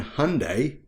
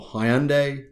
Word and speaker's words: Hyundai: Toyota and Hyundai, or Hyundai, depending on where you are.